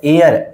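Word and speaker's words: heir: उसी प्रकार से यह वर्ड है एयर। एयर में यहां पे एच साइलेंट है तो यहां पे भी क्या आ जाएगा?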